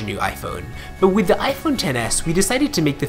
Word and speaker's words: iPhone XS: at your disposal we've got you covered the iPhone 10 S is available starting this month and we hope